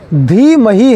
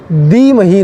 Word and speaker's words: धीमहि: आपको ध्यान रखना है ध को द बोल दिया जाता है धी मही है दी मही नहीं कई जगह पर द